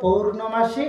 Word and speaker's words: পৌর্ণমাসী: পৌণমাসী কুন্দলতা জয় বীরাবিন্দ অনেকে অনেকে ওই জায়গাটা একটু অন্যরকম বলে কিন্তু ওর আসল উচ্চারণ হল পৌরমাসী কুন্দলতা কুন্দ পরস দন্তানদয়